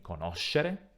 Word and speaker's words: conoscere: Il suo accento tonico all'infinito si trova sulla seconda O, quindi conoscere.